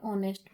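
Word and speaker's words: honest: जैसे एन ऑनेस्ट में तो ऑनेस्ट क्या है? एच साइलेंट है तो एन का यूज़ किया।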